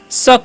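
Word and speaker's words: suck: तो इसे सुक नहीं पढ़ना है। क्या पढ़ना है? शक पढ़ना है।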